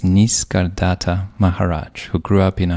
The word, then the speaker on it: Nisargadatta Maharaj: You bring up a story of a sage, and I'll do my best to pronounce the name properly. It's Nisargadatta Maharaj, who grew up in a humble tenement in the back lanes of Bombay.